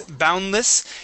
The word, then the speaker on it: boundless: Okay, and let's practice boundless. Here we want to change this less to a short I sound instead of an eh.